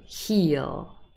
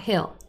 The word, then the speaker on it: heel: heel long or short yes this is a long e heel it's not hill it's heal okay very good so you're